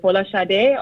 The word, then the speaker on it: Folasade: Is it Folasade or like how do you pronounce it?